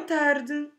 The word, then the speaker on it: tarde: That last E of the word tarde, you can drop it or pronounce it in such a very soft way that it's much better just to drop it.